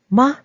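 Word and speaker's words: 吗: MA please take note the word ma needs to be pronounced lightly and shortly because we want to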